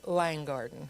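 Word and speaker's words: Lynn Garden: that I come from it's l Garden but if you're from there you pronounce it Lang Garden I'm from langard and so so it's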